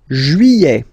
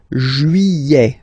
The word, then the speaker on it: juillet: Juillet. Okay, you get this double L here. Yeah. Juillet. Juillet. Don't pronounce this final T, E-T here at the end.